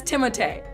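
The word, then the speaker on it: Timothée: So it is Timothee.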